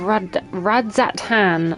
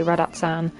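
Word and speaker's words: Radz-at-Han: I doubt you're able to squeeze in a proper tour of Radzat-Han. I need to stop pronouncing that properly because I always say Radat-san.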